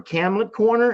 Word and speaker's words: Camelot: anyway cam kamlett corner camlet corner is how you pronounce it Camelot Corner yes we